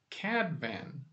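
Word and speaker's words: Cadfan: You pronounce it Cadvan. By the way, one F is always a V sound in Welsh.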